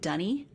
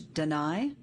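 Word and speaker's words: D'ni: In the early games, when people say this word, D'-N-I, they were pronouncing it Dunny. But then later it got changed to Deny.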